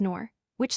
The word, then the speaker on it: Norwich: Norwich is another such name. One hears nor which slash quite as often as slashnorich sl yet another is/ delhi slash